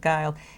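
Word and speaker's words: Guild: is doing Scott Geils even though it's spelled GUI LD he pronounces of guile so we pronounce of guile he's the head of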